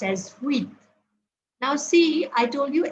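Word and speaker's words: huit: eight is pronounced as weat now see I told you H is silent so pronunciation starts at U and here it is we the pronunciation is weat okay then nine I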